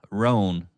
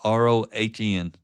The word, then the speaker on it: Rohn: So I'm going to wrap up today's episode with a quote from Jim Rohn. That's R-O-H-N. As my wife says, I don't enunciate well, so I'll spell that one for you so you know what I'm saying.